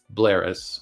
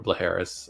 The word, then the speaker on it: Bleheris: called the quest of blaris or bleris I don't know how you pronounce that I'll just say blaris because I think that the hes silent um Lewis had also